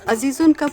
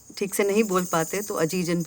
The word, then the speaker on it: Azizun: Azizun's full name was Azizun Nisa. Nowadays when people can't pronounce it properly, they call her Ajijan too, Ajijanbai.